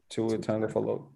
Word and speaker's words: Tua Tagovailoa: Tua Tagovailoa.